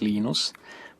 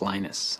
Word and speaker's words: Linus: lenus or Linus what's the exact your preferred pronunciation um when I speak Swedish it's you when I speak Finnish it's lenus when I speak English it's lonus and I really don't care how people pronounce